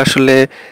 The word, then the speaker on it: A: তো আমরা ইংলিশে যে প্রথম অ্যালফাবেটটা আছে সেটাকে আমরা বলি হচ্ছে এ, কিন্তু জার্মানি এটা আসলে এ বলা হয় না, এটা বলা হচ্ছে আ।